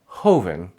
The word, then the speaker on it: joven: In most of Latin America, this sound is a little more chill than its Spanish counterpart. The word for youth, joven, is very calm, very chill.